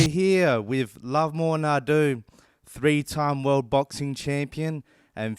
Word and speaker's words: Ndou: It's no, not Nadu. Yeah, Australians have butchered my name so bad. Everybody calls me Nadu, Nadu, but the right pronunciation is Ndo. So try your best.